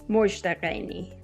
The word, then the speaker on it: Mozhdeh Gheini: Even though I butchered your name, bad anthropologist, would you just say your name as it should be pronounced? Yeah, it's Mozhdeh Gheini, but yeah, you did it much better than some people do.